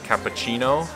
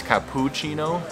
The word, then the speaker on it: cappuccino: thing you're going to have to do is pronounce it's not actually cappuccino it's cappuccino right cappuccino so if you say that you'll